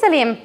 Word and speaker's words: psyllium: I'm pronouncing that correctly it is psyllium for psyllium husk it's one of those it's spelt with psy is really difficult to